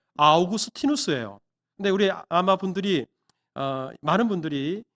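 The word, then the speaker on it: Augustinus: 대단히 오래된 사람이기 때문에 사진이 없는 것은 당연할 테고 이 어거스틴이라는 이름이 영어식 발음이고요. 당시에 라틴식 발음으로 하면 아우구스티누스예요.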